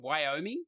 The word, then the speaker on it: Wyoming: Now, I always say this wrong because I say it with an Australian accent, but Wyoming. How do you say it in America? Wyoming. Oh, I said it right.